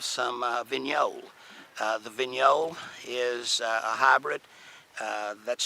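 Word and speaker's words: Vignoles: we uh have some uh venol uh the venol is a hybrid uh that's spelled VI n OES not a lot of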